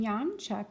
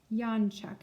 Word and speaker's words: Janczak: a stockman on the bottom yon Chuck and his name is doesn't sound anything like we would spell it in English but it's J a